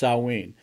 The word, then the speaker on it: Samhain: ancient Celtic festival of Samhain pronounced salween the kilts who lived